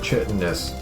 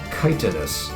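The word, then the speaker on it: chitinous: So yeah, it's pronounced it's pronounced kitonus not chitanus.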